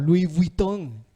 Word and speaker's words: Louis Vuitton: Tal vez no usaba Balenciaga o Louis Vuitton, se lo pronuncio en francés, o Gucci o Prada, ni Adidas.